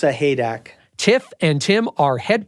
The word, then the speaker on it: Sahaydak: Tiff and her husband Tim I'll let him pronounce their last name it's a haak tiff and Tim are head coach and associate